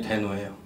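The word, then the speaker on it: Deno: 이걸 데노라고 읽는데요. 드노인지 디노인지 데노인지 막 의견 분분했는데 발음하는 걸 들었더니 데노예요. 그래서 데노로 하기로 했고요.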